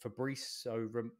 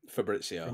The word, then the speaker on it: Fabrizio: out and it wasn't even what is it fabrio how you say his name Fabrizio FAO Romano I blocked I'm